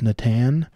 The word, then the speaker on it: Natan: to pronounce his name i've been saying natan as like nathan without the h like nathan but i think it's natan i believe there's a